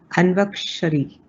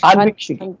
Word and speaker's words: Anvikshiki: And the powerful points of the 3 points that you put together, which Chanakya had suggested, if I'm not getting the pronunciation right, Anvakshari, Anvakshari. Anvikshiki. Anviksh.